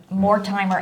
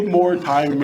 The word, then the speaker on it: Mortimer: You could say more timer. It's spelled more timer without the It E. is, but it's Mortimer.